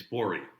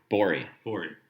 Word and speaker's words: Bourie: It's Bourie. Bourie. Okay. Rhymes with Lori.